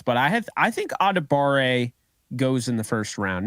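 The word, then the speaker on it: Adebawore: a daba and I found out that it's actually adibare so it's spelled like a dab of which honestly kind of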